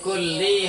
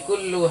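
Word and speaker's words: كلِّ: Berarti fi kulli halin. Bacanya yang betul fi kulli. halin Kenapa tidak dibaca fi kullu halin? karena kulli terletak setelahnya jar. Kulli terletak setelah huruf jar.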